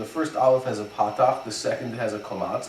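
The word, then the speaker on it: פתח: That's called a patakh. Everybody pronounces that as a simple ah. In English, that would be the ah as in pot.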